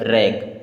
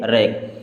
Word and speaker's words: wrack: WRACK, डब्ल्यू के बाद में आर आया यानी कि डब्ल्यू साइलेंट। अब RACK बचा तो इसे क्या पढ़ेंगे? रैक। क्या पढ़ेंगे? रैक।